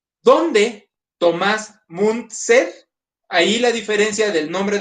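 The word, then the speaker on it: Müntzer: Ahí la diferencia del nombre del poblado es nada más que el poblado empieza con T y el protagonista es TZ. El poblado es munster y el tipo es Mun con t ser.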